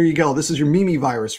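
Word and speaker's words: Mimivirus: in its genome um it's spelled m-i-m-i but yeah it's pronounced mimi virus and it stands for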